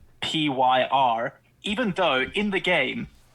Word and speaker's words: Vampyr: I don't think a definitive answer on how to actually pronounce it. Oh, yeah, because there's a Y, hey? Yeah, it's Vampyr.